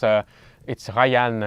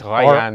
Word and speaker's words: Rayann: Yes, so it's Rayann, it's Rayann. Yes. Yes, not the English Ryan. No, not English Ryan. It's Rayann. R-A-Y-A. How do you pronounce it in French? Rayann.